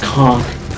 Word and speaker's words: conch: all I'll take that conch from him and just peed a little there's some charges stupid answer which by the way it's actually pronounced calm whatever the cause because